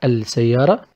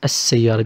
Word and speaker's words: السيارة: We should pronounce it السيارة. Not السيارة. It is السيارة because سا. One of the solar ال letters.